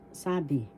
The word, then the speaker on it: sabi: isn't that's really long ang first syllable sa second syllable B the first syllable has the accent sabi ang sabi what was it so these are just examples of tagalog retail reiterate pag-uulit conversations.